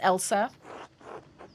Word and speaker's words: Else: who's helping out Clara oh it's pronounced Elsa seem to be enjoying